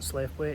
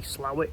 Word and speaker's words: Slaithwaite: to say like the the pronunciation of this place isn't SLA weight it's actually slow it I probably still call